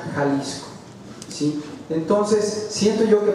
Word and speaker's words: Jalisco: Jalisco, en el término original se escribe X, Jalisco, pero se pronuncia Jalisco, ¿sí?